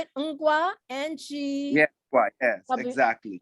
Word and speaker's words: Ngwa: And where I come from, Ngwa, Ngwa. And that's how you say it. Ngwa, N-G-W, Yeah, Ngwa, yes, exactly.